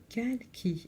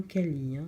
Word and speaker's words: Kalki: Donc c'était Kalki et non Kali. Veuillez m'excuser, j'ai mal prononcé son nom.